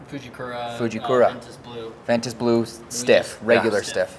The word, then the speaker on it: Fujikura: How do you say that? Fujikura.